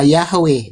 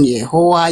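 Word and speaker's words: Yahweh: Jadi pengucapan Yothe Wohe itu pengucapannya yang paling tepat adalah Yahwe bukan Yehova.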